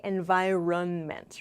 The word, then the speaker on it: environment: Note, this word has kind of a strange spelling. Environ, there's an N here, but we don't really say environment, right? We say the environment, the environment. That's the pronunciation in American English.